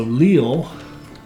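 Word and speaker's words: Lille: will be it's Leo it's pronounced like l-e-e-l Leo so Leal and this is going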